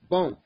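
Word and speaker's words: bons: In masculine plural. Bon. Don't pronounce the S.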